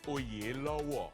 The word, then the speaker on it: Oyelowo: Como é que é essa pronúncia direito? It's actually Oyelowo.